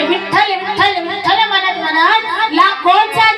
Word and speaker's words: विठ्ठल: त्यांना म्हणायला लावलं काय विठ्ठल विठ्ठल विठ्ठल विठ्ठल विठ्ठल बी ठ ल डबल ठ येतो की नाही अल्पप्राण आणि महाप्राण त्याच उच्चारण जेव्हा करतो तेव्हा हृदयावरती प्रेशर येत असं म्हणून पहा विठ्ठल